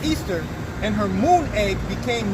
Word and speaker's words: Ishtar: yeah alright Semiramis became known as Ishtar when which is pronounced Easter and her moon egg